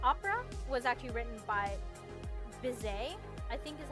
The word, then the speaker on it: Bizet: So, the opera was actually written by Bizet, I think is how you pronounce it. Georges Bizet, and it is based off, the novella by the same title by Prosper Mérimée.